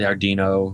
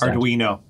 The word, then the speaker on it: Arduino: Uh the Ardino or whatever the hell they pronounced. Arduino, that's the one.